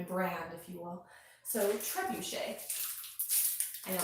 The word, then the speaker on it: Trebushea: curtain so my channel name is trebuchet which is a very hard name to pronounce it's like the catapult uh trebuchet and then i just